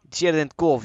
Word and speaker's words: Cherenkov: Don't tell me how it's pronounced. Cherenkov, you know?